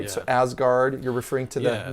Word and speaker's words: Asgard: So Asgard, you're referring to the Yes. Nine Realms. Yeah, actually in Old Norse that would have been pronounced Usgarth.